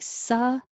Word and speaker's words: subtle: The B is silent. So it's the same 1-2 pattern, but it's like subtle. Subtle. We don't say the B, and the T sounds like a D.